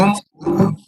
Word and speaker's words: ओम: ओम, उनके 3 माननीय उच्चारण है, फिर बहुत सारे और भेद भी है। एक उच्चारण है अ वत्ता उ, ओ बनेगा ओ। अ वत्ता उ, ओ भी बनता है और ऊ भी बनता है ऊ, लेकिन ओ उच्चार करेंगे ओ।